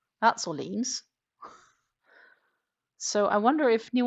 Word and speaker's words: Orléans: Um, there is a little city called Orléans. That's Orleans.